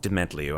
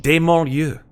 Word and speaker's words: Dementlieu: which, by the way, I found out is actually not pronounced Dementliu after almost 3 years of saying it. It's pronounced like the French, Dementlieu, which I think is really kind of interesting sounding.